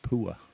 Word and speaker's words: Pua: No, he pronounced it pua. I asked him and uh so very good.